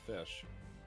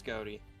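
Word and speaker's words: Ghoti: you love being banished are we pronouncing them goatee are you pronouncing them fish it's gouty the joke is their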